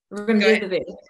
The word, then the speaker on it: remdesivir: So it says, many people say that the, pronounce this word for me, Remidsivir. I don't want to mispronounce it, but Okay. this. Remdesivir.